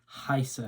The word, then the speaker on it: heiße: And when you've got an E and an I together in a word, the letter that is second, so in this case the I, is the one you pronounce.